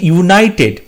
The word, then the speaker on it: United: এখানে কিন্তু ইউটা ওয়াইয়ের মতো উচ্চারণ হচ্ছে এবং সেটা কনসোনেন্ট সাউন্ড, সেই জন্য এখানে আমরা এ বসাবো।